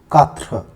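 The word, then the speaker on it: quatre: Four is katra, right? So Q-U-A-T-R-E, katra. And how do we write it in Hindi? Katra, something like this, right?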